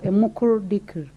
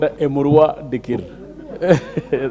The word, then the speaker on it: Emurua Dikir: So it is your chance, Honorable Member for Emukuru Dikri. Madam Speaker, my constituency is called Emurua Dikir.